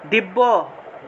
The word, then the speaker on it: দিব্য: দিব্য, সংস্কৃত উচ্চারণ হবে দিব্যা দিব্যা।